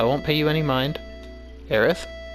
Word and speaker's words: Aerith: that stupid S and give her the proper pronunciation for her name, which is Aerith. It is the official and proper spelling and pronunciation.